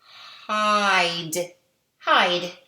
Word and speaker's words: hide: I'm going to put an E at the end of this word, and it's going to say hide, hide.